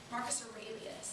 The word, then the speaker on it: Marcus Aurelius: Marcus Aurelius is how you say that.